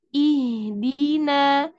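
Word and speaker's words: اهدنا: ada kepala shnya ini namanya Hamzah wasal ini dibaca kasrah ihdina Kenapa dia harakatnya kasrah kita karena di sini kita lihat huruf ketiganya huruf ketiganya itu berharakat kasrah maka dia dibaca kasrah ihdiniratal Mustaqim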